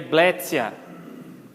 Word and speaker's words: Bletia: Equivale ao som de TS. Bletia seria Blétia.